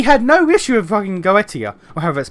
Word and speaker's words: Goetia: Why is the angel of judgment taking action on us for saving the world but not uh go not uh Goautia or Goetia, how it's pronounced, uh misusing God's rings or the foreign god?